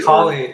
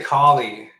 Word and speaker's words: Kali: of where that's been yeah so yeah the kie or cie depending on how you pronounce it but kie so what would be the proper pronunciation would it be I say colie I say collie yeah but I'm not going to judge judge